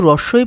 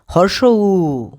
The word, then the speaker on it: উ: আরেকবার পড়ি দীর্ঘ ই হর্স উই এই বর্ণের সঠিক উচ্চারণ হবে হর্ষ উ আজকে থেকে আর কেউ রসু পড়বে না চলো আরেকবার পড়ি হর্ষ